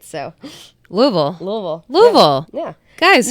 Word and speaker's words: Louisville: Louisville. Yeah. Guys, how hard is it? None of this Louisville shit, all right?